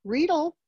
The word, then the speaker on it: Riedel: Riedel rhymes with needle, so it's the correct pronunciation.